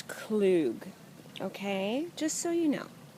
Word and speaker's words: Klug: That's how you pronounce our name. A lot of you probably have been wondering, oh, Klug. No, it's Klug.